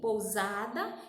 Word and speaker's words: pousada: Pousada e consecutivo, né? A diferença é que o uso da letra S entre vogais ou entre consoante afeta a sua pronúncia com som de Z, certo?